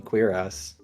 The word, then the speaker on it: cuirass: Also, according to Google, I was actually right with the first pronunciation, cuirass.